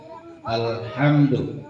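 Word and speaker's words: الحمد: lam yang dibaca ya, seperti lafaz alhamdu itu ada yang baca alhamdu, nggak boleh ya. Jadi nggak boleh tawalud kan, lam itu bukan huruf qalqalah ya. Jadi bacanya harus diluruskan.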